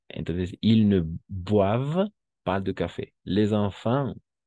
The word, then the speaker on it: boivent: Ici, une fois encore, ENT no se pronuncia, es mudo siempre cuando se trata de un verbo. ¿De Siempre que se trate de un verbo, entonces no se pronuncia. Entonces, ils ne boivent pas de café.